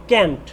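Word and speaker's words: can't: দ্বিতীয়টি দেখো ক্যানের সাথে নট যোগ করলে ক্যান্ট বা আমরা কান্টও বলতে পারি। ক্যান্ট হলো আমেরিকান প্রোনাউন্সিয়েশন আর কান্ট হলো ব্রিটিশ প্রোনাউন্সিয়েশন।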